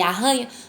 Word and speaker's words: arranha: Mas quando eu pronuncio um R que tem esse som dos dois R's juntinhos, arranha, do verbo arranhar, carreta,